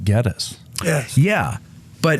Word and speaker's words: Gettys: And Well, supposedly the family pronounces it Geddes.